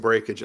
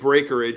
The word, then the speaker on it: breakage: If the 6 wins the next at Gulfstream, I'm going to get some breakage, I think.